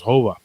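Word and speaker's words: Jova: Her name was Hova in Spanish, Hova. And the J is pronounced with the H.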